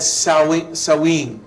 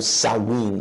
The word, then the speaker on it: Samhain: It is said Samhain. Pero es pronunciado Samhain.